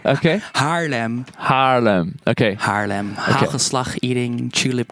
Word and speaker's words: Haarlem: Okay, Haarlem. There's no G in there. Okay. Haarlem. Okay. Haarlem. Hagelslag eating, tulip growing. The trouble is it's that guttural G, which I struggle with. There's no G in Haarlem.